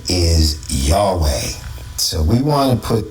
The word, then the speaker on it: Yahweh: So, I took this picture when I looked it up and Jehovah in Latin, right, is Yahweh.